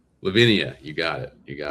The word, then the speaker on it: Levinia: Lavinia, you got it.